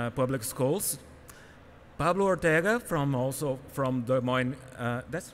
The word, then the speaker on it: Des Moines: We have three presenters: Roslyn Billy from Des Moines Public Schools, Pablo Ortega from Des Moines.